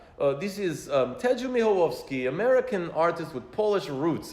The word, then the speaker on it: Michalowski: keep the Polish element in my family, and as you so nicely pronounce my name, Michalowski. When I'm in Poland, they say Michalowski. So in Poland, it's Ted Michalowski.